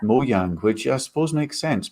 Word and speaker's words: Mojang: learned today is that it doesn't sound like it's pronounced mojang it's pronounced mo yang which i suppose makes